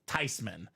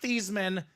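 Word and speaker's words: Theismann: nah not really it's actually supposed to be pronounced tyman so it's not theeman it's not Theisman it's Joe tyman tyman tysman the house I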